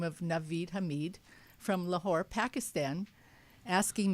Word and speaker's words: Naveed: And so our next guest is Naveed Hameed.